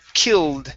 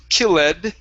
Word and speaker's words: killed: up is the word killed instead of excuse me kill ed it's killed the e is silent yes kill okay good